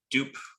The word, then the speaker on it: dupe: just using org tags dupe or dup however you want to pronounce that i've always pronounced it dupe since it stands for duplicate um and then we're